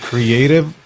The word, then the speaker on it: CRE8TIV: I'm actually at the Creative Studios. It's spelled CRE8TIV, the Creative Studios.